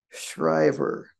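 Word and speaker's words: Schrijver: I'm going to say his name is pronounced Carl Shriver but there's a J in there a JV and then his wife Iris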